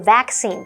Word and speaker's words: vaccine: Hello，大家好，我是 Hanny。今天要继续来看2段关于看医生的对话。在第3段对话里，Herman 告诉医生，他会有几个月在奈及利亚和加纳从事协助儿童的工作。医生说，这听起来将会有一段很有意义的经历，不过呢，会有一些风险。疟疾在西非特别危险，所以呢，会给他预防疟疾的药片。医生也提到 Herman 应该要购买含有敌避成分的驱蚊剂，并且要经常喷在身上，防止蚊子靠近。那至于疫苗的部分，医生说黄热病疫苗一定要打，那也强烈建议他注射霍乱和伤寒疫苗，今天就可以帮他打了。好，单字 meaningful。Meaningful 它是形容有意义的或是意味深长的。那么 spray 这个动词表示喷洒。文中的 repellent 它表示驱虫剂。那么 vaccine 或是念作 vaccine 表示疫苗。我们也顺便补充一下 malaria 是疟疾， cholera 是霍乱， typhoid 则是伤寒。而 Mike 老师刚刚在讲到预防措施时，他有提到 take precautions，就是指采取预防措施。其中的 precaution 它是拼作 P-R-E-C-A-U-T-I-O-N，那这个名词表示预防措施或是防备。好，接话课文中。